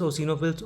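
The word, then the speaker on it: eosinophil: इसके अभी हमने आपको नाम बताए न्यूट्रोफिल्स, ओसिनोफिल्स और बेसोफिल्स। एनईबी इस तरीके से आप लोग याद रखिएगा। न्यूट्रोफिल्स, ओसीनोफिल्स और बेसोफिल्स। एनईबी में जो ओसिनोफिल है उसमें ई साइलेंट है।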